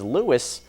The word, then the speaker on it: Louis: pronounce the name is Louis the royal baby's name is to be pronounced the French way so the S is silent so when you're talking